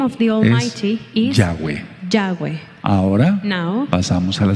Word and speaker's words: Yahweh: Porque la letra Vav, because the letter Vav suena como W. Sounds as a W.